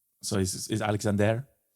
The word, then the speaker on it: Alexandre: I almost said Dre because it's kind of spelled that way, but I don't think it's pronounced. Isn't it actually Alexander with an er at the end? Yes, but I think he's French.